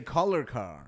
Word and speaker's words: Kolarkar: Kolarkar? Yeah, Kolarkar. Oh, Kolarkar. Yeah. I knew I was missing a one vowel probably. No, it's good. I tell white people to say collar car.